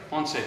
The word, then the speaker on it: Ponce: Ponce. Ponce. My name? Pontes? Yeah. Ponce? Ponce. And Ponce? The company is Ponce Painting. Ponce paint. All right, guys. I'm over here with Ponce Painting right here.